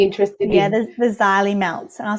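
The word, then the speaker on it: Xylimelts: particular are you interested in yeah there's the xylee melts and i'll spell it for you it's uh z x y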